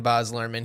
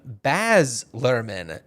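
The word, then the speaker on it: Baz Luhrmann: about it and uh he pronounced his name baz lurman and it really threw me I was like I mean it is your name I trust your pronunciation of your own name but I I refuse to believe that it's not BOS lurman I guess I guess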